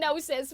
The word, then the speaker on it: Gnosis: Did I pronounce the G? Yeah, I did. It's a running joke. Uh, we're just kidding, guys. I know it's the nosis. We call it the gnosis.